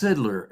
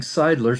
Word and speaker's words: Sidler: Bogatko, the name is pronounced Sidler. Is that correct? That's correct, Mr. Hearing Examiner. Thanks. I've been pronouncing it wrong. I've been saying Seidler since the first time I've seen it, so thanks for educating me there.